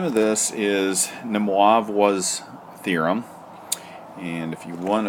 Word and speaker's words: de Moivre: to be real mathematical the way you pronounced this guy's name is dimov wah ok I don't know if it's I guess it is French de moivre's anyway let's